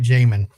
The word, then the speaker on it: Jamin: So anyway, Jamin, and I am saying it right, Jamin, correct?